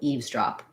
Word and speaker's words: eavesdrop: dog stress on both same thing with eavesdrop so eaves has the tense e sound there's no sound for this um letter e that's just because of spelling of the plural there's a z sound for the s eves so that might be